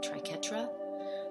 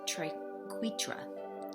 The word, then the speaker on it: triquetra: I in my head, when I read that, I always pronounce it triquetra, but apparently it's triquetra, and you can fact check me on that.